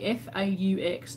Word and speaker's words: faux: How do you say F-A-U-X? Is it forks or is it fake? Faux. I think it's faux.